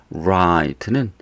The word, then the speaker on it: write: write는 쓰다인데 오른쪽이라고 하는 right랑 발음이 똑같아요. 이거랑 발음 같다. right와 발음이 같습니다. right.